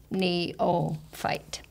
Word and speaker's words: neophyte: tricky wasn't it because the second syllable had just an o sound knee o fight is that it well let's listen to it neophyte yep it's it sounds